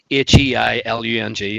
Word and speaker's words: Heilung: Yeah, check out a band called Heilung as well. Heilung, yeah, just as it's pronounced, as spelled as it's pronounced.